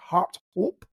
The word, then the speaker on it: Harthope: I have had several discussions with locals recently, and they have confirmed that it is indeed Harthope Viaduct.